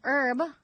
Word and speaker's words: herb: sex life okay an herb or herb as they say in the UK using cures can heat